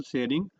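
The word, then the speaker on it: Tshering: ग बोलते हैं इनको इनका नाम यहां पे देखो शेयरिंग टी साइलेंट रहता है तो शेरिंग टॉप ग बोलते हैं इनको इन्होंने एक सिटी है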